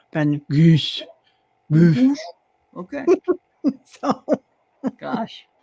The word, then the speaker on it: Van Gogh: And his name is actually Van Gogh, or as they Oh. would pronounce it there, Van Gogh.